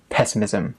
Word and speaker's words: pessimism: We'd use this phrase or these phrases in the speaking test, also the writing test, and the pronunciation is optimism, pessimism, stress on the first syllable.